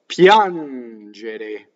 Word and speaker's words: piangere: Piangere. So again, piangere, to cry. Piangere. So the accent is on the a, and the a is closed. Piangere. Now, ge is j.